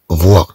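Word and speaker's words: vois: إذن قبل هافي سننطق فوا، طبعا هاد اس لا تنطق لأن هذا لو فيغ فواغ مصرف في البريزون، مصرف في البريزون، نقول تي فوا أنت ترى.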